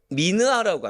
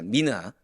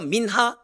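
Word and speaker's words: מנחה: 자, 여기서 소재는 히브리어로 미느하라고 합니다. 미느하. 이것도 발음에 따라서 민하 또는 미나라고 하는데, 이것은 본래 선물, 예물, 헌물의 의미를 갖고 있어요.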